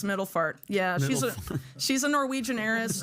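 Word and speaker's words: Middelfart: It's like a P-F-A-R-T. No, it's far. It's spelled far. It's Middlefart.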